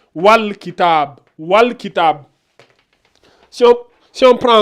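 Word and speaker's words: والكتاب: Donc on prononce bien le al. Donc on dit wal kitab.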